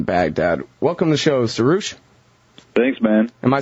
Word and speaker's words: Suroosh: Welcome to the show, Suroosh.